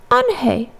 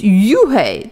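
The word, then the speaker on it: Unhei: "It's spelled U-N-H-E-I. It's pronounced Eun-hae." "Oh, it's Yu-hae," the boy said.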